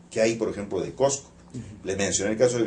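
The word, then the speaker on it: Qosqo: Y la pronunciación de esa K abre la vocal U en O automáticamente. Entonces, en realidad pronunciar Cosco sería imposible. Lo espontáneo es pronunciar Cosco, y entonces, claro, ahí estamos aparentemente frente a una O, pero en el fondo no es una O, sino es una U que se abrió.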